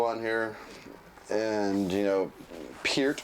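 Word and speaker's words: Peart: here and you know Pier or per however you prefer to say his name the correct way is p but everybody says per great drum solo by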